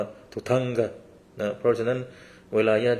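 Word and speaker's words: dhutanga: 13 อย่าง นะ ครับ คำ ว่า ธุดงค์ เนี่ย ใน ภาษา อังกฤษ หรือ ว่า ใน ภาษา ฮินดี้ เนี่ย คน ก็ จะ ออก เสียง ว่า ทุ ทังกะ นะ เพราะ ฉะนั้น เวลา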